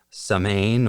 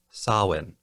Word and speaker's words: Samhain: First, while the holiday I'm talking about is spelled as though it would be pronounced Samain or Saman, it's actually pronounced Samhain or Samhain.